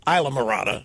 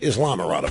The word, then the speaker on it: Islamorada: Now I'm being told that it's pronounced Islamorada, not Islamorada.